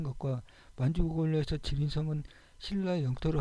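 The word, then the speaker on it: 吉林: 길림지역이라고 하였습니다 계림과 들림 우리는 발음으로 달리불이면 중국 발음으로는 지린으로 바르는 길림이라는 지명이 신라의 계림에서 유리했던 발음 가지고도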